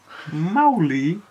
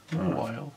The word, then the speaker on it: Mawile: Mawile. And I'm going to put. Imagine there's a H between the I and the W and then pronounce it like that. Mawile.